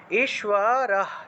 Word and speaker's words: ঈশ্বর: তাহলে তাহলে ঈশ্বর ঈশ্বর তাহলে হচ্ছে বফলা তাহলে সুয় উচ্চারণটা আসবে ঈশ্বর ঈশ্বর ঈশ্বর সর্ব সর্বভূতানাম